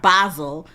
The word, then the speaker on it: Basel: debuted that Art Basel even though I spell that says basil to me but I'mma Be I'm say it like they say art basil Miami Beach in 2019